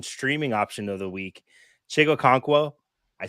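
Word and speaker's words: Chig Okonkwo: notably fyf Champion streaming option of the week chigo conquo I said it right because I looked it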